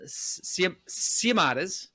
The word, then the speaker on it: Siomodes: Um his name is Tom Siamades.